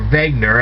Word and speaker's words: Wegener: Alright, now Alfred Wegener, or Wegener as his name was actually pronounced, Alfred Wegener, although it starts with a W, also studied something that many people claim to see in deserts.